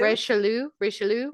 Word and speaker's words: Richelieu: I spelled it out phonetically. Richelieu.